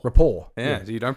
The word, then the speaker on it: Report: cover ever report is what it's no no rapport rapport yeah you don't pronounce that till I say to tell you